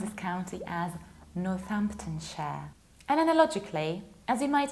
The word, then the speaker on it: Northamptonshire: But if it's a part of a bigger word, you need to reduce it and pronounce it like share. And that's why we pronounce this county as Northamptonshire.